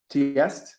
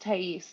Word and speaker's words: Tais: they will participate um tiest am I saying your name correctly uh my name is pronounced Tais thank you um I